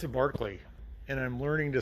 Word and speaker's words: Berkeley: It's a Berkeley, and I'm learning to say that and get my mind wrapped around that that is the correct pronunciation of this car.